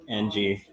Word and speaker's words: Jung: is going to Young. You get that? Young. Neil? And Jung. Young? Oh. Yeah. Hold on. Don't do anything. Are you pronouncing it wrong? It's Jung.